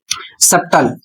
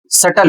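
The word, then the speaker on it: subtle: अगला शब्द है इसका लोग उच्चारण करते हैं सबटल जबकि सबटल उच्चारण नहीं करना है। सही उच्चारण क्या है? तो सही उच्चारण सटल होता है। सबटल नहीं होता है।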